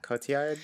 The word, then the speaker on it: Cotillard: Oh, how do you pronounce her name? Marianne? Marianne? Cotillard? Yeah. Cotillard, yeah.